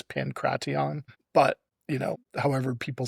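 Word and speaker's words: pankration: You know, this is a little before the rumors that pancraton would be a lot of people call it pancreasian. I have heard that the true pronunciation is pancraton, but you know, however people say it, I'll I'll not correct cuz I don't know.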